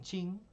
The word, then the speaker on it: Qin: El Imperio Manchú, o llamado también Qin, que es como se pronuncia esta letra Q consonántica en China.